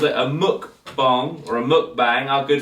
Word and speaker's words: mukbang: I think it's spelt bang, but I think it's bong.